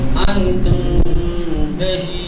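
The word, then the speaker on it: أنتم به: اور یاد رہے کہ میم کو تلفظ کرتے وقت ہونٹ دونوں آپس میں ملنے چاہیے. انتم بہی ایک دم ماں کہو گے تو غلط ہو جائے گا. انتم بہی، ہلکا نون کی طرح، ہلکے نون کی طرح سے وہ جو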